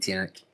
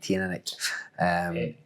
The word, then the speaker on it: Teaneck: I really like Teaneck, and if I'm pronouncing it right, Teaneck. People chin you all the time for saying it. I say it the same as you, Teaneck.